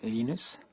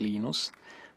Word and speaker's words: Linus: I speak Swedish it's heinous when speak Finnish it's Lino's when I speak English its Linus and I really don't